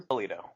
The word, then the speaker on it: Bellitto: so how do you say your last name Pulido and you and I we go back what